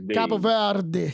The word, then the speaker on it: Cabo Verde: But Cape Verde, I think Cape Verde, they like, Cabo Verde. I don't want to mispronounce it. Cabo Verde.